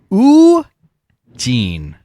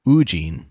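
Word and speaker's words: Woo-jin: like The Mastermind mhm o Jean so like Eugene but instead of you it's oo ugene ugene yeah okay I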